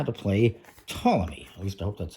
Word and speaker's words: Ptolemy: Today we're looking at how to play Ptolemy. At least I hope that's how it's pronounced, with a silent P, which is from Schemers again.